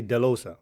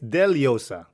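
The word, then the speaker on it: Dellosa: it exactly exactly like my last name is deleosa it's d-e-l-l-o-s-a yeah here in the Western World they will say delosa right yeah before I was like yeah it's okay cool but now I'm like no no no dude actually it's deliosa as usual yeah you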